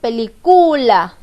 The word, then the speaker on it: película: La sílaba que yo pronuncio con mayor fuerza de voz al decir mi palabra es la sílaba li. Porque para que suene bien la palabra con sentido lógico, yo no puedo decir película. Tampoco digo película. Tampoco digo película. Yo digo película.